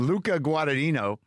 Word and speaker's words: Luca Guadagnino: it that's it's Brendan Brendan's sending me the pronunciation Luca guadino uh I had seen um call me by